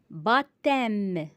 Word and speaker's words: baptême: Baptême. P est muet.